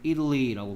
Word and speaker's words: Italy: 뭐 한국 사람들은 이탈리아 이렇게 얘기하는데 원래 발음은 Italy라고 발음해야 돼요.